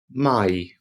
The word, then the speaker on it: Mai: So AI together makes an I sound. I. Here we have in May, which is pronounced im Mai.